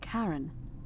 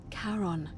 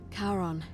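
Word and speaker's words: Charon: It's just as you described it, only your pronunciation is a little off. The name you heard wasn't Karen. It was C H A R O N. As in Karon, the fairerryyman of the dead. Karon, who in exchange for the right coin helps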